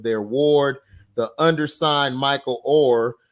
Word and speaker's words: Oher: are missing the point oh it's pronounced or okay or I call them O'Hare but the way they making them look it sound like his name is O'Hare you know now in